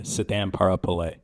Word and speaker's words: Sithamparapillai: So tell me how to say it again. Well, you got the first name, Sithamparapillai. Sithamparapillai.